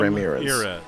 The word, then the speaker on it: Ramirez: We did also get confirmation from Summer in the chat of how we pronounce Arthur's name in the LMP2 class. It's Arthur Ramirez. So thank you, Arthur Ramirez. Not Ramirez. Yep. It's Ramirez. No, Ramirez. So thank you, Summer, for confirming that with us.